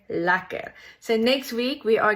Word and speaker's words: lekker: It's written like this, but it's pronounced like this, like clear lekker.